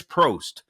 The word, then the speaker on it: Probst: chief his name um Andreas Prost I believe that's how you pronounce it p r o b s t is how you uh how you spell his last name 64 years old and